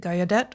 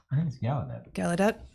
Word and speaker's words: Gallaudet: 1988 campus protests at is it gaiadet or gallaudet gallaudet okay so um in